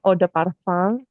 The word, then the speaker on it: eau de parfum: Sebenarnya kalau misalnya kata eh, ini cara bacanya eau de parfum.